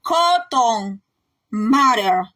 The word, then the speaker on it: Cotton Mather: Vemos el cruel error del reverendo Samuel Parris y del teólogo Cotton Mather. Español yo digo Cotton, pero es Cotton. En inglés lo pronuncian Cotton Mather.